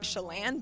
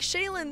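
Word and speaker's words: Chelan: Lake and it was called Lake shalan but my mom pronounced it wrong and was like oh Lake shayen that's such a beautiful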